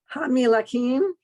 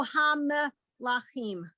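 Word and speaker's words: המלכים: Hamilakim, Better to go ham lachim.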